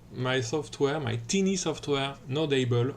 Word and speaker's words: Nodable: Hi everyone, my name is and I'm here to present to you my software, my teeny software, Nodable or Nodable if you pronounce it in French.